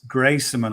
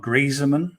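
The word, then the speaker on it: Greyserman: The other guy, we're playing the local angle again, is Max Grayserman or Grieseman. Okay. Not Antoine Griezmann, it's Grayserman. I mean, who knows how you pronounce it, because he's got some interesting family history.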